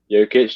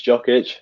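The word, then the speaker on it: Jokić: your victim complex tom number four nicola jokic yokitch jock itch i always forget how to pronounce his name that as well maybe one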